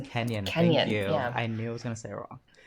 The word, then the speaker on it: Kenyon: She was born in Cleveland and went to Kenyon College, if I'm saying that correctly. Kenyon.